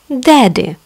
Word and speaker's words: daddy: Daddy. Папа. Grandma. Бабушка. Grandpa. Дедушка. Остановимся. Смотрите, в слове daddy пишем две буквы, где читается только одна.